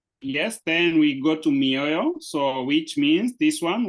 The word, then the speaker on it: mioyo: when you separate it, I know that sometimes I might say it very fast, so you might not get to hear the syllables, but we have mi or yo, mioyo.